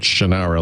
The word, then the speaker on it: Shannara: Not Shannara, like I've always said. And not Shanana.